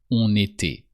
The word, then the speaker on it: on était: Don't forget to pronounce the N of on when the following word starts with a vowel. On était.